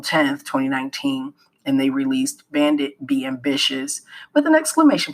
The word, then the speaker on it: BVNDIT: Now, even though they're pronounced Bandit, they are stylized as B VN Dit T.